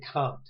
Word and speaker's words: Comte: In the slides, I apologize, I can't advance right now, but you'll see names like Auguste Comte, and that's how you pronounce it.